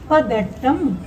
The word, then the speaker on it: பதட்டம்: பதட்டம் பதட்டம் அந்த தாவை உச்சரிக்கும் போது பல்லும் நாக்கும் இருக்கிற இடம் இட்டு உச்சரிக்கும் போது முடியும்.